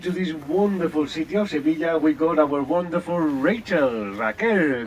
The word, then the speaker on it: Sevilla: Sevilla. Very good. Sevilla. The double L sounds kind of a Y, right?